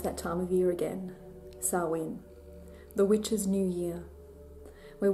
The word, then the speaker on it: Samhain: it's written in English, Samhain. That's not actually correct. It's actually Samhain or Samhain, which is closer with my Australian accent to the Irish or the Gaelic pronunciation.